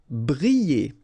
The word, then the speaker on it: briller: Briller. Alright, so here, I and then double L, so you get the sound y, y, y.